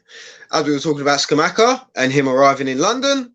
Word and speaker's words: Scamacca: Is it Scamacca or Scamacca?